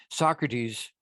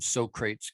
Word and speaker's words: Socrates: interesting way to look Socrates I keep when I as soon as I see that I think of Bill and Ted's Excellent Adventure and they call them so crates because that's how it's spelled but Socrates again it's